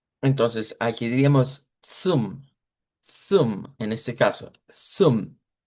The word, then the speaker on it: zum: Azza, azza, El sonido propio es como la ts, ts, como la T y la S juntas. Ts, ts. Pero si lo queremos simplificar, lo podemos hacer como una S.